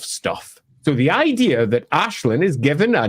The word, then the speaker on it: Aislinn: It's Ashlin. That's just the name. It's Ashlin. There is no other way to pronounce it.